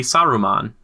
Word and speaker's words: Saruman: There's an extra syllable in there. No, think man has to be Saruman.